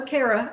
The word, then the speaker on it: Kaira: You say the air like Kaira, and then it's like air, and then, like rhymes with Gouda.